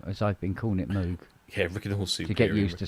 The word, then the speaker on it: Moog: seen her desk instead instead of it's saying Michelle Moog cusa on her name plate on her desk it just says as in Vogue yeah that's a